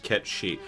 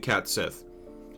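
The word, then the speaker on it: Cait Sith: Apparently pronounced ketchi.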